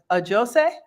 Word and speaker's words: Ajose: Ajose?